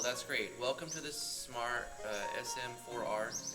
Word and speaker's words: Sm4R: Welcome to this smart Sm4R. Is it called Smar? Like you say it like that, or as you say Sm4R? Smar's easier. Smar, makes sense.